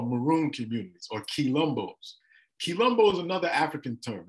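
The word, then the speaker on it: quilombo: so this is just a map of some of the rebellions and what they call maroon communities or key lumbos Colombo is another African term it's spelled q u i l o m b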